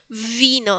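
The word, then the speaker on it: wino: Eh, el primer ejemplo justamente es como B corta. Vino. Es como una B más vibrante. Vi, vino, vino.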